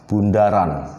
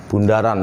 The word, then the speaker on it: bundaran: ini ini dibacanya adalah Bundaran Bundaran ya jadi jangan membaca sebagai nol atau sebagai ini dibacanya adalah Bundaran ya Hai lambangnya memang seperti nol atau seperti O ya tetapi di dalam komposisi